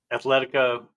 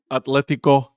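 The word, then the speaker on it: Atlético: Athletica. I was I was going to say it wrong. Atletico Atletico Madrid.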